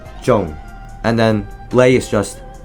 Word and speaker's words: Zhong: a tad bit easier you first um say the word own and then add a g sound at the end and make own and then add a J in front so Zhong and then play is